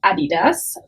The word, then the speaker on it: adidas: a few other resellers how to pronounce it correctly meaning the german way and that brand is adidas for american speakers or english speakers you often will call it adidas and that's fine people will understand you obviously but in